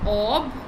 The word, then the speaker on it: obfuscation: So obfuscation. That will be the pronunciation of this word, because I googled a lot of times to understand the pronunciation of this word, and it's obfuscation.